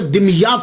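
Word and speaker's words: Damietta: तो ये सैयद जमालुद्दीन साउजी फिर वहाँ से मुंतकिल हो गए, दिमियात चले गए। इसके बहुत सारे प्रोनाउंसिएशन हैं, लेकिन सबसे जो आसान है वो मैं आपको बता रहा हूँ, दिमियात।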